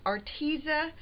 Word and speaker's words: Arteza: we're going to be making a card with our tizi brush markers yes that is how you say